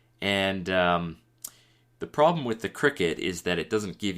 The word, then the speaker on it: Cricut: used to call this cry cut but it's it's it's actually pronounced cricket so it's uh it